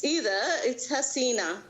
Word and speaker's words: Hasina: It's Hasina. All right, Hasina. With a double E. Love the Emphasis question. on the double E.